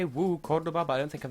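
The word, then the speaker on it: Córdoba: No, it's Cordoba, 'cause there's an accent on the O. Oh, Cordoba.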